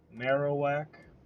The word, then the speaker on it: Marowak: Marowak, I think, will be the way to properly pronounce it. Marowak.